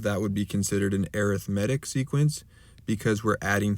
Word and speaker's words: arithmetic: on arithmetic sequences i know it looks like arithmetic right but in this case we pronounce it as arithmetic and let's start with some vocab words so